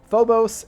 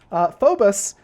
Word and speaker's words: Phobos: my let's play thing I was like fobos and damos but apparently they're pronounced Fobus and Imus correctly although I you know